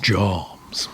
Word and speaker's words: jambs: It's pronounced jams.